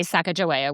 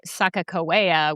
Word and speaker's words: Sacagawea: So the the Northern Shoshone say Sacagawea with a J. The Hidatsa say Sacagawea with two Ks. And then there's another version which is Sacagawea with a G instead of a J.